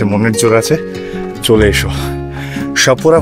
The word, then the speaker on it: Chapora: সাপুরা fort বানান হচ্ছে CHAPORA, তো সাপুরা বা সাপুরাও বলতে পারো। তো CH এটাকে শাহ উচ্চারণ করে লোকালসরা।